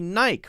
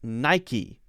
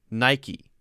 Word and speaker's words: Nike: It is Nike. Nike. That's how it's pronounced. Nike is not pronounced Nike. It's one of the few words that are an exception to the silent E rule.